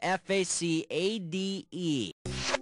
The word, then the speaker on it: facade: it the word is f-a-c-a-d-e which of these sportscasters last names rhymes with the correct pronunciation of f-a-c the word is facade which rhymes with Rashad and Amma his name